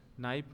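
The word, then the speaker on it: knife: जैसे रोमन लिपि में लिखित अंग्रेजी के शब्द नाइफ में का उच्चारण ही नहीं किया जाता, जबकि नाइट में जीएच का उच्चारण नहीं होता।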